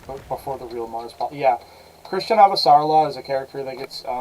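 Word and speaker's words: Chrisjen Avasarala: But I'm pretty sure her name is supposed to be pronounced Christian Avasarala. Or if it's not literally Christian, then like it's close.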